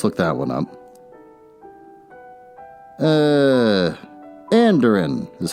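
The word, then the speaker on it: andiron: iron well let's look that one up uh anderin is how you pronounce it a metal support typically one of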